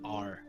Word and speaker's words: Rezmir: Don't get near Resmir. Resmir. Resmir is a name of a person, or Yes. okay, I will just write that down then. Wait. Don't get near Resmir. Yeah. Was it Resmir? Rezmir.